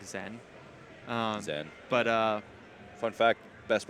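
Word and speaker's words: Zain: His like actual pronunciation is like more like Zen.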